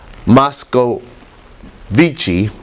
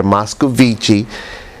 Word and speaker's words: Moscovici: consistency and influence consistency a consistency according to moscow vichy i'm sorry i mispronounced it earlier moscovici verified the importance in maintaining consistency in other